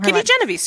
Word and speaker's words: Kitty Genovese: I forget how you pronounce her name. Kitty Genovese.